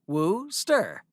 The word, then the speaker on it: Worcester: Two chemists from Worcester, pronounced Woo-ster, called John Wheely Lee and William Henry Perrins, whose last names you may be acquainted with, invented Worcestershire sauce.